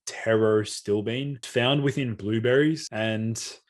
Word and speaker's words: pterostilbene: a natural origin terrastillbean it starts with p but it's pronounced taro still bean found within blueberries and